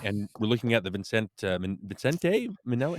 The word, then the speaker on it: Vincente: I think it's Vincente. Yeah. Okay, In, Vincente in Minnelli. Italian, because I lived in Italy for a while, it'd be Vincente. But I don't Vincente.